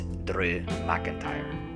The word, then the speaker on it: McIntyre: bro and drew mcintyre yes that's how you're supposed to pronounce it he's of scottish descent it's mcintyre then i saw the street